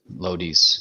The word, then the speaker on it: Lodice: And then in the third round, they get Kyle Lodice, is how you pronounce it? But Lodice, yeah.